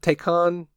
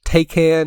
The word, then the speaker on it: Taycan: take can take on I need to need to get the true pronunciation down I think take on sounds more correct galileo russell said take in and kind of i thought he sounded a little bit funny with his pronunciation of it but regardless they said